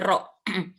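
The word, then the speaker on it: ر: Ro, nah ini salah ini ro. Ini di sini tulisnya ra, ya. Ro, bacanya tuh ro.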